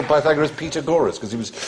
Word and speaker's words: Pythagoras: this must do the pag gorus and are we going to do pag gorus you go shut up FR do pagor years later I discovered he meant P Pythagoras he used to pronounce